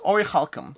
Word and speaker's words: Orichalcum: Is it Orichalcum? Orichalcum? I'm like very Jewish, so those hard C's, CH's are Chalcum. It's Orichalcum. Orichalcum from Pandasaurus Games. Orichalcum.